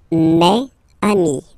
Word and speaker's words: mes amis: plural form, so it's mes amis, okay, and then let's be purist and make this beautiful liaison between these two words. Mes amis, mes amis, mes amis.